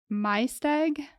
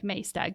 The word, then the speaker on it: Maesteg: And she grew up in, hopefully I don't butcher this, Maesteg, South Wales. Okay. It looks like Maesteg, but I'm pretty sure they pronounce it Maesteg.